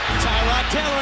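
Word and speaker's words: Tyrod Taylor: and he's got the first down still going tyron taylor at the 35 dancing his way inside the 30.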